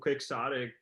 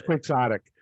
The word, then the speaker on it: quixotic: I mean, but it seems so quixotic. I mean, or quixotic, however you pronounce that. I think it's quixotic, but it's pronounced Quixote. Anyway, whatever.